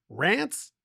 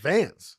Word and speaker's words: Vance: would probably get that better because they're like, Rance? Dance? I'm like, Vance.